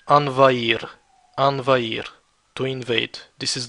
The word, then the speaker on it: envahir: verbs, is the verb envahir, to invade. Notice how I didn't pronounce the H. It's a mute H. Envahir, envahir, to invade.